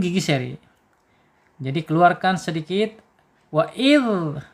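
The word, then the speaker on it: وإذ: Wa'idh, awas, hati-hati, jangan wa'iz, wa'iz, zai, jangan ya, wa'idhal.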